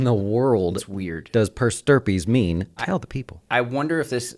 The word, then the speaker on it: per stirpes: is a financial word it rhymes with herpes Eric the financial word of the day is per sturpees what in the world is weird does purse derpies mean I know the